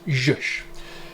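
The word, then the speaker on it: zsh: going to install today is called z shell or pronounced josh now basically the reason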